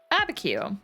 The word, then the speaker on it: Abiquiu: All right, Abiquiu. And Google Translate says, or rather Google pronunciation, the built-in one, is saying that it's a census designated place in New Mexico.